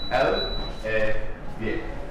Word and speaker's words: Elle & Vire: To properly pronounce it, you have three words there. Elle Vire, alright?